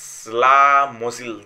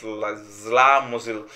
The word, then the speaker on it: Czesław Mozil: And also, that's like another artist who is with Quebonafide, you know, he's Czesław Mozil. That's how to pronounce it. Yes, he said he's Czesław Mozil.